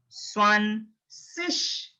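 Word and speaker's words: zwanzig: Now you see Z is there, but it's not Z. You have to produce S. You have to pronounce as S. S. Swan, swan, swan, shish, swan, sish, swan, sish.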